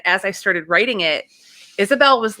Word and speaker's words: Isabel: Am I pronouncing Isabel or Isabella?